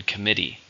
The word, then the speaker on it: committee: and a countable noun how many syllables are in committee three stresses on the second syllable the committee has reached